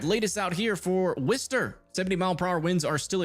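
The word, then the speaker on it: Worcester: Honestly, we should continue to call it Warchester just to piss off the Brits that live there. Yeah, there's no tornado right now, guys. We did have tornado warnings earlier, but they've all expired. I'm kidding. I'm kidding. We'll call it Wister.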